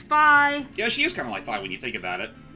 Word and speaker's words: Fi: Is it Fi? Yes, it's the Romanization is Fai. Basically, the original Hyrule Warriors did confirm that the pronunciation is Fi.